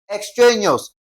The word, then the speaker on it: extraneous: We're going to stress the syllable before the last. That is what now? Tra. Okay, we have ex tra neous, okay?